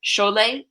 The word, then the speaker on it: Sholeh: writer and literary translator Sholay Sholay as she said - it rhymes with Olay so I'm trying to